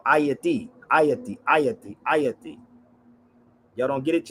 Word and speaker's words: Haiti: Haiti is not called Haiti. Hate come from the Haiti come from the word hate. It's called ayati.